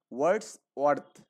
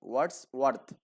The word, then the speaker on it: Wordsworth: আর্থ, মানে দুটো একসাথে তো এই জন্য একটু উচ্চারণের সমস্যা হবে। ওয়ার্ডস ওয়ার্ডস ওয়ার্থ, ওকে? ওয়ার্ডস ওয়ার্থ।